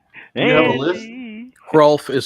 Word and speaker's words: Hrulf: Hrulf is spelled Hrulf. You pronounce the H.